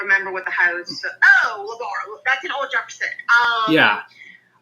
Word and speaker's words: La Barre: Labar.